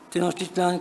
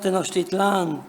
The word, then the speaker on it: Tenochtitlán: Hoy existe en México un debate en torno a la pronunciación aguda de los topónimos Teotihuacán, Tenochtitlán, Coyoacán, etc., las cuales deberían de pronunciarse, según algunos, con una acentuación llana.